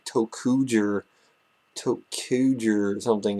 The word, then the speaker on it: ToQger: the 38th sentai is upon us russia's sentai tokuger in case you don't know how to pronounce that because i don't blame you first